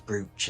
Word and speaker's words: brooch: I can't spell the word brooch. BROOCH. It's double O, is it? Yes, of course, it's brooch, isn't it? But pronounced brooch. Well, not to be confused with the roach.